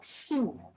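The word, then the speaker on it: Sault: flight from toronto so this is how we pronounce our name once again it's like sue it means rapids or waterfalls because we are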